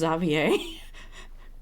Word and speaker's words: Xavier: back in Fon now is his name is pronounced zavier like for real for real oh why